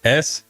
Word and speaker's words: Stith: Stith. Sounds just like it's spelled.